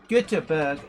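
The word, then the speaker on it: Göteborg: paul anderson converts yeah gothenburg or guterberg in swedish i'm i'm i pronounce it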